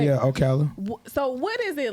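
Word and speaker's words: Ocala: So you being a part of Okala cuz I'm country so you know disregarded by pronounce it. Did I say it right? Yeah. Oala.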